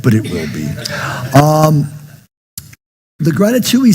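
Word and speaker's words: grati2ee: And I call this a gratitui. Rhymes with ratatouille. Let's see how it's spelled. G-R-A-T-I, the number 2, 2 E's. It's not in the Oxford yet, but it will be. The gratitouille says that whenever you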